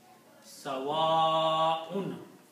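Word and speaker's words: سواء: Whenever you see a hamza and there is an alif before that, that alif has to be recited with a mad, long. So this pronunciation will be Sawa'un.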